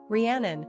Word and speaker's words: Rhiannon: Rhiannon, pronounced Rhiannon, is derived from an Old Celtic-Welsh name Rigantona, meaning Great Queen.